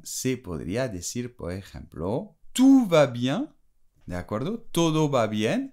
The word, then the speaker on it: tout va bien: podría decir, por ejemplo, tout va bien, ¿de acuerdo? Todo va bien, y no tu vas bien, ¿eh? Cuidado con la diferencia de pronunciación, tu vas bien, o tout va bien, tout es todo.